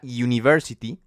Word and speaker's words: University: sonido eh Por ejemplo la palabra University University empieza con una u Sí pero realmente su sonido es es de consonante Porque esa u suena